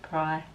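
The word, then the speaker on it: Prai: so yeah look at the prey or pry I say pray you might say bro it's spelt P are a I definitely worth a look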